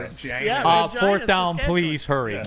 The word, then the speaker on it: Regina: Yeah, it looks like Regina, but they pronounce it Regina. Regina.